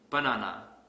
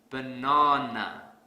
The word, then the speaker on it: banana: Let's say I pronounce this word as banana. This is incorrect because I don't stress the second syllable. So to fix this, I will stress the second syllable really hard.